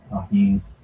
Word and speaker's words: tahini: Shout out to everybody that knows the deliciousness of tahini. That's how you pronounce this.